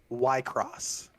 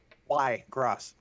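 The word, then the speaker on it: Wycross: Wherever I Go Aldrich y cross that is not gonna be hard to remember just hard to pronounce Aldridge white cross why gross w-y-c-r-o-s-s like why across the street yeah yeah see that's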